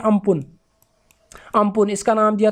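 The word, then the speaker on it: Amphan: इसको प्रोनाउंस करते हैं अम्पुन।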